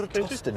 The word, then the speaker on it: Eratosthenes: And because we had other craters in shadow as well, what about Eratosthenes? I think that's how you, is that how you say it? Eratosthenes, I think is so, that it?